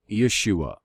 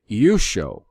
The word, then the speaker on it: Yeshua: I do not pronounce the Redeemer's name Yeshua. I pronounce it Yusho, and I'm going to show you why.